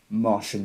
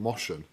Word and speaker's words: Martian: But it sounded like you pronounced it Moshin. Moshin Manhunter. It's the Martian Manhunter.